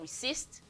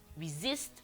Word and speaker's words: resist: Resist, not resist, resist with Z.